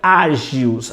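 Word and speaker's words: ἅγιος: A palavra grega hagios, alguns pronunciam agios, agiografia, história dos santos.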